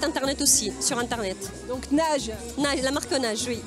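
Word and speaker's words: Naje: Donc Nage. Nage, la marque Nage, oui. Comment ça s'écrit?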